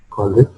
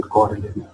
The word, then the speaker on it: corollary: So by combining these two, we will get this corollary, and corollary, that is basically corollary. I was pronouncing it incorrectly.